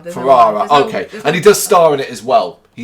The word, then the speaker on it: Ferrara: Ferrara. Ferrara.